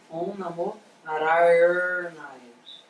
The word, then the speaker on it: Om Namo Narayanaya: E a pronúncia mais correta é Om Namo Narayanaya. Tá? E aí a forma de pronunciar seria assim: Om Namo Narayanaya, Om Namo Narayanaya, Om Namo Narayanaya, Om Namo